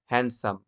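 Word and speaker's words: handsome: যেমনটা একটা এক্সাম্পল আমরা আবারও রিপিট করছি, হ্যান্ডসাম, হ্যান্ডসাম থেকে হয় হ্যান্ডসাম, এই ক্ষেত্রে ডিটা সাইলেন্ট হয়ে গেল।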